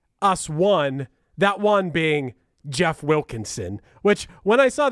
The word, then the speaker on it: Geoff: Jeff Wilkinson I don't but it is spelled like Geoff Wilkinson like that spelling of it I don't know why